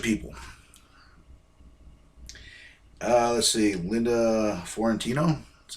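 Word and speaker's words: Fiorentino: rickman bunch of people uh let's see linda florentino that's how you say her name and uh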